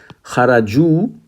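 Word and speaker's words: خرجوا: Kharaju, three or more of the males left. Now this is spelled with this wow. Now there is an alif at the end, as you see. This is not pronounced.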